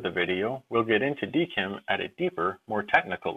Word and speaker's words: DKIM: video we'll discuss what dkim commonly pronounced deim does and why you